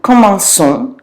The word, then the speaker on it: commençons: this, because if we didn't put a cedille on that C, it would sound like comment qu'on, which again is not very pretty, so there's a rule to fix that.